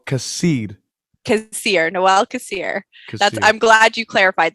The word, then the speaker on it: Nawal: So usually I tell people to think of like Christmas, Noel, but it's spelled much differently.